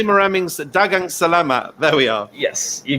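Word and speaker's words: daghang salamat: Is it, how do you say maraming dagang salamat?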